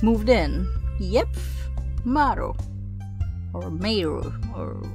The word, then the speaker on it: Maru: Or Meiru. Or how do you pronounce her name? I'm Maru.